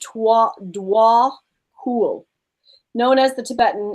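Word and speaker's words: Djwhal Khul: Okay, so this other one right here says, oh, I guess it's pronounced Dwa Hul.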